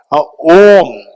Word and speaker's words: Om: And this syllable Om, in the Buddhist context, it is made of three component, the composing letters, A, U, Ma, three letters.